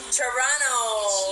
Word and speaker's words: Toronto: watching from Toronto Canada Toronto with a silent tea Ilan po aso niyo